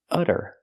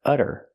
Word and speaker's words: utter: it was utter chaos we see the Double T pronounced as a fast D because it's between vowels utter utter it was utter chaos